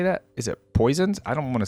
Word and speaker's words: Poisson: Is it Poisons? I don't want to say Poison. Without you. Poisson's reconstruction Poisson Right, cuz Fontaine has a lot of like French sounding names, right?